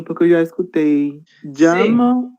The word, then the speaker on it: llamo: Llamo, está certo também a pronúncia? Llamo. Llama, como se fosse um i.